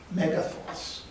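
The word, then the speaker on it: μέγεθος: be of a certain magnitude, the Greek word pronounced in English, megathos.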